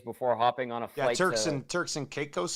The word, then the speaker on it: Turks and Caicos: Turks and Caicos. Turks and Caicos. Was it, like Turks and Caicos. Turks and Caicos, or are we saying it wrong? It's not Caicos, is it? It sounds so weird.